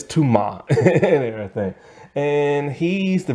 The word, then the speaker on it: Tuma: that is his name t-u-m-a tuma um but they say it like tumor but it's too ma and everything and he's